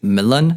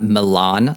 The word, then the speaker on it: Milan: My favorite track, top 3 tracks of all time, is Krish Kali's Milan. Okay. I think it was about a good 15 years before someone said, hey, it's actually pronounced Milan, not Milan, like I was saying the entire time.